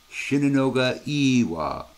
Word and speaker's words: Shinunoga E-Wa: were checking out yesterday, Shinunoga Iwa. I hope I did the E long enough. I use Google Translate for this stuff, guys. So, Shinunoga Iwa is how it says to say it.